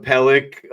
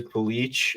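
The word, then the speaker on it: Pelech: She was calling Pellick on the Islanders Pelich, and I was dying every time.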